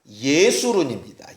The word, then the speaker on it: 여수룬: 계속 반복합니다이 여수룬이라고 하는 히브리어 원어 발음을 들어봤더니 너무 재밌습니다 예수론입니다 예술은 정확하게 바른대로 번역을 했다면 여수룬이 아니라 예수론이 맞아요 근데 예술인이라는 단어 뜻이